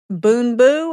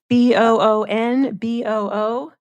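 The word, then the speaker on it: Boonboo: a note to that difficult names to pronounce do you want us Boon boo I guess b o o n b o o Boon boo dental floss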